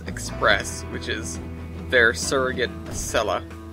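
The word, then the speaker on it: Acela: which is their surrogate asella yes it's a cell not a sea don't anybody pronounce it like that another huge chunk of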